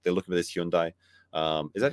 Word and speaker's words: Hyundai: Like they're looking for this Hyundai. Is that how you say it? Hyundai.